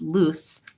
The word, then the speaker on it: loose: Watch for when I'm saying lose, you want to, that the consonant is going to be short and the vowel is going to be long, versus loose. Loose, you can hear I'm holding my S sound. You can really hear the noise of the S, versus lose. You want to either hear Z, the voice Z, or just I lose it. A very, very short consonant.